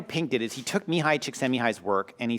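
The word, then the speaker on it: Mihaly Csikszentmihalyi: is actually a guy by the name of Mihai Csikszentmihalyi.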